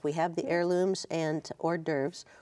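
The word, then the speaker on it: hors d'oeuvres: We have the Heirlooms and Hor D'oeuvres or horse dovers as some people call it just to try to spell it out.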